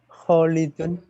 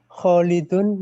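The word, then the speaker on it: خالدٌ: Khalidun lahu sittatu abna'in. Nah, gitu bacanya ya. Jangan Khalidu, nggak ada Khalidu. Kenapa nggak ditanwin?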